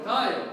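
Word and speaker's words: ⲧⲁⲓⲟ: Pronounce it for me. Tayo.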